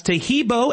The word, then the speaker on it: Taheebo: Taheebo is spelled T like Tom, A-H-E-E-B like boy. Oh, that's Taheebo, and then continue with the word tea and then the word club.